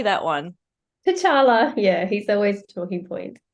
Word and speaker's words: T'Challa: cat CH how do you say that one t'challa yeah he's always talking point it's Black Panther's